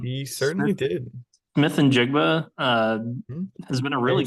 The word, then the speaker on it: Njigba: half of the Season how do you say his name Jackson Smith njigba in jiga yeah sounds like like Ninjago or something it does a